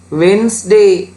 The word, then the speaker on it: Wednesday: ඊළඟ එකේ D silent. Wednesday.